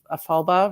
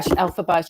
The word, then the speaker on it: Elphaba: which the book Wicked has the story of Ephelba, right? Ephelba? yeah. Is that how you say her name? I don't know. Okay. Yeah, Elphaba.